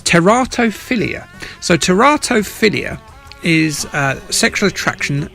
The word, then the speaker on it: teratophilia: If you're going to be a scientist, you've got to pronounce words correctly. It's teratophilia.